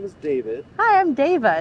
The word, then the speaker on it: Dava: is David hi I'm Dava it's from David Dava yeah spell that d